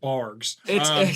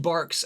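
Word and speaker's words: Barq's: not that God forsaken bargs it's pronounced barks and it's when it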